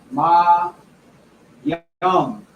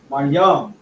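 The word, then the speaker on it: מים: And this is pronounced Ma Yum. Ma Yum.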